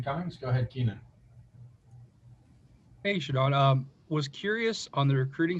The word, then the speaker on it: ShaDon: Pronounce my name as ShaDon. All right, it's a capital D. It's not hyphenated. So you guys, it's ShaDon.